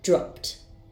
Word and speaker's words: dropped: sound ends in so the e d ending will be pronounced as to dropped dropped next I have the